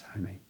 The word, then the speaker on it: Jaime: don't mess it up, is your name pronounced Jaime or Jaime or Hi? And he says, it's Jaime.